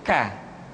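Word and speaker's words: ك: Diucapkan dengan mengangkat pangkal lidah kita ke posisi di depan huruf Qaf.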